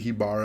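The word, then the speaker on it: Haibara: And it's actually Hibara. I've been saying it wrong this whole time, sorry.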